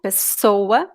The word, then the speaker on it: pessoa: So, guys, when there are 2 S's, the sound is like S, normal, pessoa. It sounds like Z only if there is only 1 S.